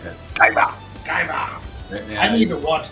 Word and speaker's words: Kaiba: Kaiba.